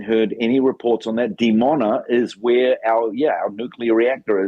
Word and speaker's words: Dimona: Dimona? Dimona. Are you getting any reports on a nuclear reactor in Israel there in Dimona? No, I haven't heard any reports on that. Dimona is where our nuclear reactor is.